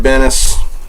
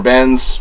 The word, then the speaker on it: Benes: Gail Simone, Ed Benes, or Benz. I've heard it pronounced two different ways. I say Benes.